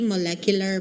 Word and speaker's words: molecular: the intersection of biochemistry molecular modeling. Tama ba yung aking accent? Molecular accent on the third syllabol.